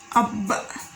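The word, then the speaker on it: أب: So we usually add another letter before the letter with the sukun, like that. Example, ab, ab, which means father. Again, ab, which means father.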